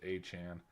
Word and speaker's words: Etienne: out, that's gone viral, of it's actually pronounced Achan.